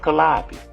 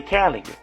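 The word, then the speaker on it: Calliope: In the third war, you had the Calio, which they pronounced Calabi, but we say Calio.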